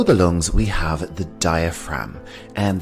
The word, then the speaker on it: diaphragm: lungs we have the diaphragm and the g here is silent diaphragm our next body part